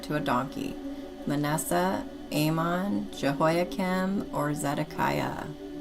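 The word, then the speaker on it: Jehoiakim: Jehoakim. And you are correct. And it's spelled J E H O I A K I M. Jehoakim.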